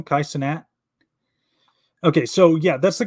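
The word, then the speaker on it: Cenat: that his name now you pronounce his last name kaisanat okay so yeah that's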